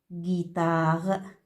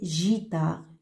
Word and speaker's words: guitare: vous prononcez leçon guy on a ajouté une autre j'ai et y pour prononcer le sont guy par exemple guitare guitare regardez on a eu entre ge et si si par exemple on n'a pas ajouté le ici on va prononcer jta jta et c'est faux et c'est faux il faut prononcer guy il faut garder le son des guitares on ajoute une comme